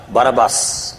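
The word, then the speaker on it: Barabbas: गुन्हेगार होता त्याचं नाव बाराबास इंग्लिश स्पेलिंग केलं तर बाराबास उच्चार बाराबा होतो त्यांनी जनतेला विचारलं की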